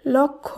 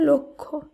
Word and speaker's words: লক্ষ্য: ক্ষীয়, এর শুদ্ধ উচ্চারণ লক্ষ্য নয়, এর শুদ্ধ উচ্চারণ লক্ষ্য।